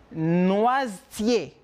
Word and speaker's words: noisetier: La prononciation viene celle noisetier. La E no sale.